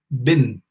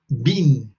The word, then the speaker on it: been: there is a um difference in pronunciation in this word between american english and british english in american english they say bin bin but in the united kingdom they say been can you notice can